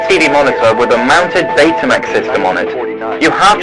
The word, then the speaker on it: Betamax: Oh, and if you're wondering, in the UK, we pronounce it Betamax rather than Betamax.